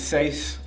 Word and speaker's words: Seis: Yeah, okay, so my name is Seis, which is 6 for Spanish, 6 in Spanish. I changed the S, number 6, so 6 EIS, so Seis in Spanish because it's spelled S-E-I-S, so Seis.